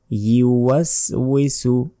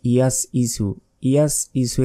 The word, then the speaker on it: يوسوس: আল্লাযী ইউওয়াসওয়িসু, এই শব্দ আমরা অনেকে ভুল বলি যে আল্লাযী ইয়াস ইসু এখানে নেই। দেখুন ইয়া পেশ ইউওয়াসওয়িসু ফি 1 সেকেন্ড টেনে পড়বেন।